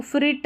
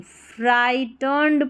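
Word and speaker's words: frightened: A loud thunder फ्राइटंड इसको फ्रिट नहीं फ्राइटंड पढ़ेंगे। फ्राइटर्नंड इसमें जी एच साइलेंट है।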